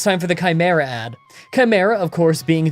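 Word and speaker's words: Khimyra: Oh, and that's Chimera, spelled K H I M Y R A. I see people say, "I thought it was Chimera," and spell it like the normal way all the time, but like the website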